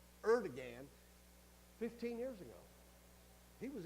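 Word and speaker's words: Erdoğan: It's Erdogan. I always want to switch two consonants, but it's Erdogan.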